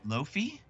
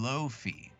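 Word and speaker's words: Laufey: me it was here it is wait low low fee it looks like Oh Volstagg and low fee bull stock I pronounced it wrong and low fee whoever low fee is lau fe y but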